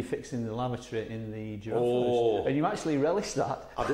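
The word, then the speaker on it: Jaraf: It was a good reason, and it's spelt quite oddly as well. It's spelt J-A-R-A-F. But it's called a giraffe house because Trevor, who was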